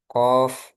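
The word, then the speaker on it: ق: Kalau qof, qof gitu ya, bukan qo dengan diidghamkan ke huruf setelahnya. Diidgamkan ke huruf setelahnya. Jadi misalnya nun, huruf setnya nun gitu ya. Kalau dia bertemu dengan qof, berarti nun sukun bertemu qof.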